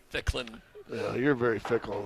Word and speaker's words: Ficklin: It's Ficklin. Yeah, you're very fickle on how to pronounce it.